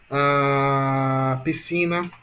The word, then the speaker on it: piscina: Em piscina, olha a piscina. Sílaba mais longa, si. Portanto, a sílaba mais forte aqui é si.